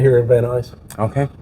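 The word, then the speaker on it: Van Nuys: built right here in Van eyes okay that's how you say it van eyes I said van news um let's see oh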